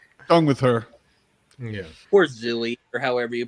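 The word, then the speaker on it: Zwey: Poor Zooey, or however you pronounce that guy's Zwei. name. Way. Zwei.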